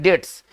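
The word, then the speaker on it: debts: ठीक है ना, और इसको पढ़ते हैं डेट्स, है ना, इसमें बी साइलेंट होता है, बी को नहीं पढ़ा जाता है, इसका उच्चारण करते हैं डेट्स।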